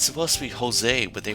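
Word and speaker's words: José: His name is It's supposed to be Jose, but they pronounce it Jose. They pronounce the J in his name instead of making it sound like an H.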